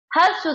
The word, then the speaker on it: ह्रस्व: ह्रस्व स्वर, इसको ह्रस्व नहीं पढ़ेंगे फ्रेंड्स, इसको ह्रस्व पढ़ेंगे। ये हाँ में रा निकला हुआ होता है।